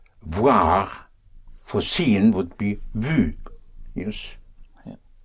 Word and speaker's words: vu: You dive into a very short U, a very short U, usually just a one syllable. For instance, voir for seen would be vu, yes?